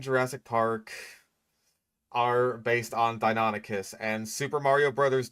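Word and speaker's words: Deinonychus: Yeah, Dino Nikkas. That's one of those pronunciations that I that I hear all the time. Like, even though it is incorrect, it's very common. Like um I know that the guy from Your Dinosaurs are wrong thought it was called Donicus for the longest time until he discovered that it was actually pronounced Donicus.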